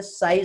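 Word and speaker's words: psi: ये बेटा Greek letter है, इसे साई से रिप्रेजेंट करते हैं।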